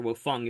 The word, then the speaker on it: Wang: Asian figure and it's Professor Wang or Professor Wong if you if you pronounce it properly and I think it's